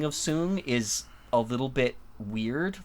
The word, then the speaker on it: Soong: How do I pronounce it again? I've already forgotten. Dr. Crusher? No. The Soong? Song? Oh, Soong.